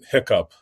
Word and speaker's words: HICP: Well, they say hiccup. Really? Yeah. Hiccup? Okay. Even HHS. Even HHS calls it hiccup.